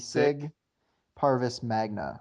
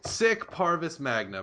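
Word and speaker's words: Sic Parvis Magna: Sick, sick like SIC, Sick? Sig Parvis Magna, I There you believe. go. Okay. I just We butchered got that. it. I butchered it. Sick Parvis Magna.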